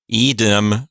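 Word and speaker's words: idem: with a demem ending EDM has a long I there that's really isdm it's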